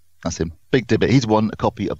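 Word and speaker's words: BigD18t: I don't know how it's pronounced. B-I-G, capital D, 1-8-T. So Big Dibbit. That's him. Big Dibbit.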